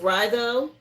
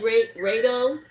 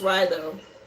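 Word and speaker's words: Raido: Again, pronounced Ryo. I know it looks like Rao, but it's pronounced Ryo.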